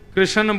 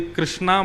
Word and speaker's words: कृष्ण: लाल की जय बंधुओं कई लोग इस नाम को अशुद्ध बोलते हैं कई लोग कृष्ण बोलते हैं, कई लोग कृष्ण बोलते हैं। कोई कृष्णा बोलता है। भगवान का नाम शुद्ध उच्चारण करो। नाम क्या है? कृष्ण।